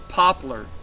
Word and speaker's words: poplar: And it's those in the poplar campgrounds. Now, that's 2 syllables, P-O-P-L-A-R, like the tree.